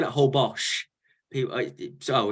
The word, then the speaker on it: Holbox: Kimberly who said old whole box is that correct whole box h-o-l-b-o-x is the correct way of spelling it but whole Bosch is the way is pronounced okay I'm still gonna